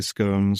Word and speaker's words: scone: it some people say scones some people say scon I'm a scon side so and then when